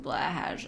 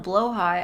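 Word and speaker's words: BLÅHAJ: Willingly mispronouncing blahage. I'm sorry, it's just easier to say. Listen, if I call it a blowhigh, everybody's gonna think that I'm, like, out of it.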